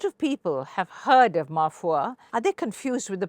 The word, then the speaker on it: Ma Foi: We've had people even saying mafia. Oh, that's not very good. Not good at all. Yeah. So, but I just, laughingly say probably the recall value is higher, so it's okay. It's mafia. So people mispronounce it because, as you know, French words, it's not easy to pronounce.